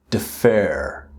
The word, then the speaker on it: defer: Now the pronunciation here is defer, right? And then postpone.